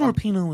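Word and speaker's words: Rapinoe: Before there was Megan Rapino, is that right?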